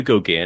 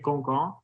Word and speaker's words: Gauguin: So I think, like, if we're gonna say it, like, might as well say like Gauguin. So it's like the French pronunciation. Gauguin. Gauguin. I think it's Gauguin. So like it not nasally enough.